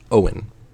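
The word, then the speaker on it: Eoin: is EO i n but it's pronounced Owen Owen culur how does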